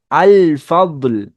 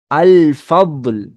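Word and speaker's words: الفضل: அப்போ கம்பல்சரியா இந்த லாம உச்சரிக்கணும். அல் ஃபத்ல், அல் ஃபத்ல்.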